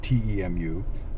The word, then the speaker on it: Temu: But the company was called, well, I thought it was called Temu, T-E-M-U, but it's pronounced Temu.